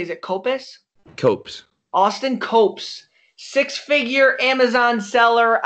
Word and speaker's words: Copes: Copes.